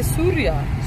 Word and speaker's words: Syria: in jordan and lebanon syria syria yes oh syria oh you say surya surya this is the dutch people say syria it's like surya it's like it's a